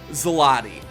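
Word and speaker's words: złoty: Zloty. It's like Pilates. That's how it's been explained to me by Polish people.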